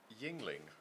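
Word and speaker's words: Yuengling: A Yingling, I'm told it's pronounced, which is very nice.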